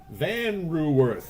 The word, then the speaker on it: Van Ruwerf: Van Ruwerf, I'm told, is the correct way to pronounce that name.